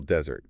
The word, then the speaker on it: desert: If you stress the first syllable desert, you're talking about the dry, sandy place.